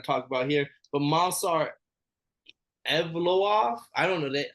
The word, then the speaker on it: Evloev: about here, but Mansar Evloev. I don't know. I didn't know how to say his name, but the way they said it on the show completely blew me. It was like Evloev, but Mansar gets the unanimous decision over Diego Lopez.